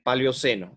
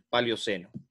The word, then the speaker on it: Paleoceno: Y en la época, en los inicios del Paleoceno, o del Paleóceno, pero creo que se pronuncia Paleoceno.